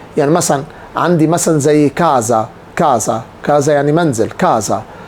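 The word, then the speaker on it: casa: يعني منزل كازا كازا بقولش كا كا لا كده دي اس سنوره اس سنوره يبقى كاز زي كوز كوز ايزولا ايزولا فازو فزو كل دي الاس بتتنطق بين حرفين متحركين بتنتق ز ز ز طبعا في الاول القاعده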